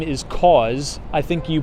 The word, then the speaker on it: Kaws: The artist's name is Kaws. I think you pronounce it or spell it K-A-W-S, I believe, for Kaws.